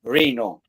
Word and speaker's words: Reno: It's Reno. It's not rhinoceros. It's spelled in Italian. Reno. Don't even go there. Okay. It's not Rhino. It's Reno.